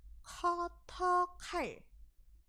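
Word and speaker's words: 커터칼: Koto itu sebenarnya dari bahasa Inggris yang tulisannya cutter. Cutter gitu. Tapi mereka membacanya adalah koto.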